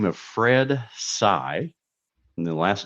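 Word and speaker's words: Saigh: Uh, on this day in 1952, a gentleman by the name of Fred Sai, and the last name is spelled S AI GH, was indicted by a federal grand jury on a charge of income tax evasion.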